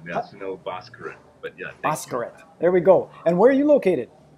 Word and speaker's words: Bhaskaran: His name is Sunil, and I don't know how to pronounce his last name. You there, Sunil? Yes, I am. Yeah, Sunil Bhaskaran. But yeah, Bhaskaran.